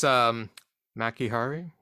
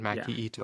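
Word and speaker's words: Maki Itoh: Yes, versus Maki Hari. Am I pronouncing her name correctly? Is it Maki Ito? Maki Ito? Oh, Ito. Yes, you're right. Maki Ito.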